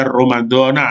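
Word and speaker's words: رَمَضَانَ: dan puasa bulan Ramadan jadi Ramadana ini dibaca Ramadana ya karena dia termasuk Isim giru munsorif jadi ada kaidah wur fathtian jadi bacanya romandona kalau dia eh berhenti sampai di situ beda dengan niat puasa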